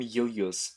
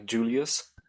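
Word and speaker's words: Iulius: Anyway, the point of the scene is ultimately that I'm actually pronouncing him Julius. The pseudo-Latin pronunciation of, Julius.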